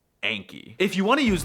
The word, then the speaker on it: Anki: Just remember that it's pronounced Anki.